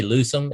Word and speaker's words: Lucim: boy from oklahoma but how do you say lose them am i saying it right yes i'm really so now